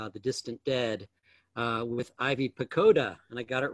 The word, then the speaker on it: Pochoda: She's going to be discussing her really fantastic new novel, The Distant Dead, with Ivy Pochoda, and I got it right this time.